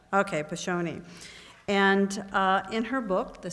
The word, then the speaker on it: Piscione: Piscione. Okay, Piscione.